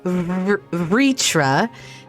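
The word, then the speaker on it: Vrtra: oh i get it so i'm supposed to pronounce the vowels in all the names as if they're there but they're not so he's ritra and it's midgard soremers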